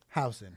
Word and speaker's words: Housen: Housen. House. Oh, just like me. Housen.